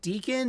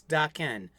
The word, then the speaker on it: Daken: I pronounce Dakin's name is it Deacon or is it DOC can't you should know it's doc Ken and uh so doc